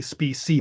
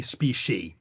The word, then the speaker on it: species: but not really, because the C tends to be pronounced as an SH, so it's species normally pronounced. I sometimes say species, but it should be species.